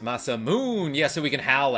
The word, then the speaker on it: Masamune: Karma, it's pronounced Masamoon.